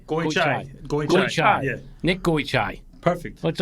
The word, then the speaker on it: Goichai: And I nailed that pronunciation, didn't I? Well, it came close, but it's good. Came close. Goichai. Goichai.